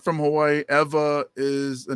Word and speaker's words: Ewa: And it's spelled EWA, and the W in Hawaiian is pronounced with a V.